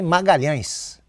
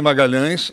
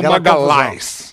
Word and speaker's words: Magalhães: E quando cheguei lá e tava me apresentando lá, a dificuldade da pronúncia do meu nome por causa do LH que não existe na língua italiana. Aquele tio sobre o ar ficava Magalis, Magalis. Aí o empresário disse: "Bicho